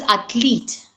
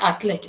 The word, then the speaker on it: athlete: And it is athlete, not athlete. It is athlete.